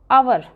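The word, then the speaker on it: hour: First है walking for आवर, तो यहाँ पर क्या लगेगा एन आवर, आवर होता है ना, तो ये स्वर में आ गया, वोवल्स में आ गया, एच इसका साइलेंट रहेगा, आपको ओ को देखना है।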